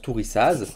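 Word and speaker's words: Thurisaz: Ensuite, on a sourissage. Donc, moi, je prononce tourissage.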